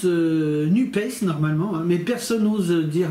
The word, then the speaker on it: NUPES: et sociale alors c'est bien alors ça se prononce nubes normalement mais personne n'ose dire nubes l arrêt